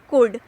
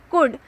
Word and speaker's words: could: इसमें जो L word है ये साइलेंट रहता है, हमें इस एल वर्ड को प्रोनाउंस नहीं करना होता है। सो COULD लिखेंगे स्पेलिंग, बट प्रोनाउंस इसे करेंगे, इसे बोलेंगे हम कुड।